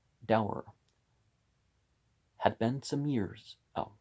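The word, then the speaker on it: Davar: It was a piquant fact that this judge, Sir Dinshaw Dever, pronounced Dower, had been some years,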